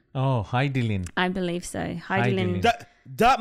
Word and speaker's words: Hidilyn: it for a start i think her name is actually pronounced heidi lin oh hi dylan i believe so hi